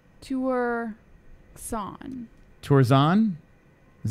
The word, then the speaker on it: Tuerxun: how you say that Jessi - were song tours on is how you say Kenshiro tours on -